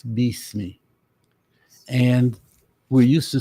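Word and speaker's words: بِسْمِ: first Ayah is that a lot of people say bis but it's really that the letter that we pronounce I like as in it okay is really always e so instead of B me it's Beast me and we're used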